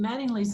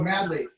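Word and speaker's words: Madley: his book and imagine mattingly's the guy who wrote the book american in america and an american genocide that's oh madly you're saying it wrong matt i'm saying it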